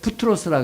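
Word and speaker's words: بطرس: 부트로스는 베드로를 아랍어로 부트로스라 그래요. 그 사람들은 피 발음을 못해, 아랍어가.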